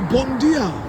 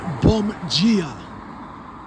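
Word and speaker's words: bom dia: Portuguese I would say bondia but in the doinga app it teaches Brazilian Portuguese so in Brazilian Portuguese the d as in DIA is pronounced G so it's like you're saying bomb Gia bomb Gia so bomb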